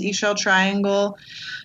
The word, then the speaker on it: Ixchel Triangle: talked about her but it's i x c h e l triangle um doesn't it doesn't look like it sounds but that's how you spell it and we're on um